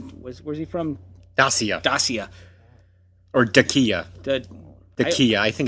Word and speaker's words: Dacia: Or Dacia. Dacia. I think it's pronounced Dacia.